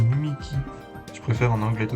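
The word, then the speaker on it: Mimiqui: Mimiki. Ah, c'est lui Mimiki. Du coup, moi, je regardais Polo. Je regarde Polo, du coup, c'est Mimikyu qui dit. Du coup, je tendance à l'appeler Mimikyu, mais c'est Mimiki.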